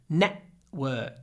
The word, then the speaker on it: network: build your personal network network try to say it net without closing your mouth network net network of course you can